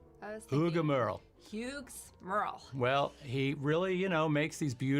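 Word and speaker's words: Hugues Merle: Uga Merle. Oh, Uga. that's not how I would have pronounced That's it. not how anyone would have pronounced it. Huh? Uga. I was thinking Uga Merle. Hughes Merle.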